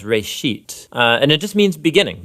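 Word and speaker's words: רֵאשִׁית: It's pronounced reshit, and it just means beginning.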